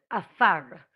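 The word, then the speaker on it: עפר: The word for dirt is afar. Afar, spelt with an ayin.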